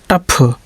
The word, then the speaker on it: tough: जैसे TOUGH उच्चारण तो होना चाहिए टघ, है ना, मतलब GH का घा होना चाहिए, लेकिन शब्द के अंत में आता है तो उसका उच्चारण फा होता है। TOUGH का क्या हो जाएगा, टफ, कठिन।